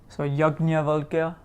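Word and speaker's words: याज्ञवल्क्य: So, but you can pronounce this as either gnya or jnya. So jnana or jnana, right? So yajnavalkya or Yajnavalkya or Yajnavalkya, you could say it like that. But so it's a gnya or a jnya.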